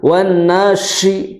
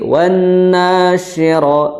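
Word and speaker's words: وَالنَّاشِرَاتِ: Dan juga yang perlu diperhatikan pengucapan shin, ya, ini yang di titik 3 itu apa? Tidak terlalu dihentakan. Karena apa? Karena karakter dari shin itu apa? Lemah. Jadi jangan wan nashi, tapi wan nasyira, wan nashi, cukup seperti itu.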